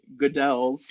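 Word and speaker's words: Goodells: So I did pronounce it in a video is Goodell's. Oh no. Which sounds better than Goodles, people.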